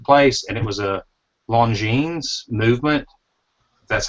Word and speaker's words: Longines: They scrapped it there at the place, and it was a Longines Movement.